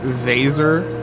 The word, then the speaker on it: Zazer: doing it on purpose it's professor professor zazer like laser with a z how hard is that